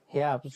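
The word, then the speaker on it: Herbst: তারপরে হ্যাঁ, আর তো উচ্চারণ করবে না এখানে, তাই না? হেয়াপস্ট। হ্যাঁ, ওইটাই বলতেছি। হেয়াবস্ট। ওকে, হেয়াবস্ট, আমি হচ্ছে হাবস্ট বলে ফেলছি।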